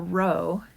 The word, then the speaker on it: rho: charge now we use the symbol row which is spelled rho but is written row like that um to denote a